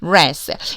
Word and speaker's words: wrath: wrath. 약간 생소할 법한 어휘가 바로 wrath예요. 여러분 W는 발음이 안 나요.